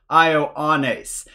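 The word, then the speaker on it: Ἰωάννης: to make one sound in this case we have three separate vowels all pronounced separately ioannis and then over here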